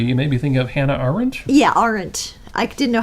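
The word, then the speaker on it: Arendt: maybe think of Hannah orange yeah orang I didn't know how to say her last name that's because there's a silent D at the end that's only partially silent yeah you know you've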